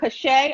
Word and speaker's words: CaSay: my name wrong so i just want to make sure it's dr kashay i just want to make